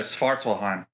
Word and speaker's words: Svartálfar: Is the S silent? No, Svartálfar.